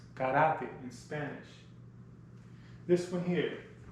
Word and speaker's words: karate: Karate, pronounced karate in Spanish.